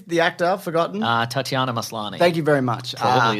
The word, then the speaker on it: Tatiana Maslany: the name is the actor i've forgotten uh tatiana maslany thank you very much absolutely is how you pronounce it that is true looks great yeah